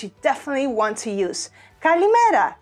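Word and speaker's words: καλημέρα: Kalimera, kalimera. And of course, you know, you can pronounce it differently. You can say kalimera, kalimera, kalimera, kalimera.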